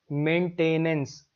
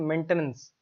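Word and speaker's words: maintenance: spelling सही है होता क्या हम इसको बोलते हैं मेंटेनेंस ऐसा बोलोगे तो फिर टी ए आई एन लिखने की कोशिश करोगे लेकिन इसकी सही प्रनंसीएशन होती है मेंटेनेंस मेंटेनेंस अगर ऐसे बोलोगे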